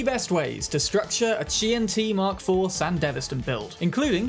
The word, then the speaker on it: QianT: And yes, you did hear me right, it is indeed pronounced QianT, a fact that was recently pointed out to